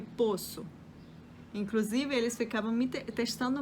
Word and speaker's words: poço: o verbo poder né eu posso e a palavra né o poço eu não conseguia pronunciar de forma diferente outras outras palavras que